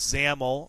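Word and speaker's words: XAML: to the program language known as zaml zaml is spelled xam ml i' next like to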